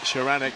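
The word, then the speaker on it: Szaranek: I've been getting it wrong for so many years now, and finally somebody's come up to me at Tollcross and said it's Sharanek, Bob. Sharanek, right, we know it now. Mark Sharanek, fastest qualifier in lane number 4.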